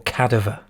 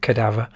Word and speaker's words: Cadaver: got cadaver first uh or cadaver as i was used to say when i was little but i'm pretty sure you pronounce it cadaver um what's cadaver then